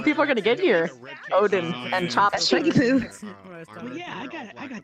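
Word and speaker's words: oden: sudden they see Well, it's not spelled with a U, it's O-D-E-N. Like I had to reset. Oh, I don't know. I think it's actually pronounced Odin. Cash, and whenever I do that, Because it's udon is with noodles.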